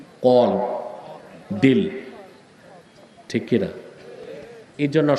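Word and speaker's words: قلب: আপনাদের বাম বুকের 2 আঙ্গুল নিচে হৃৎপিণ্ড, এটা কি আরবিতে বলা হয় কলব। অনেক বক্তাকেও শুনছি উচ্চারণটা ঠিক করে না, বলে কালব। কালব অর্থ কুত্তা, আর কলব অর্থ অন্তর।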